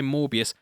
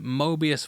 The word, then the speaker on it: Morbius: ALso everytime I say Morbius I have to double check Ive said it right cos mans been saying Mobius for about the past 7 weeks.